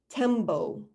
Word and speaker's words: tembo: Tembo is how you say it in Swahili, tembo.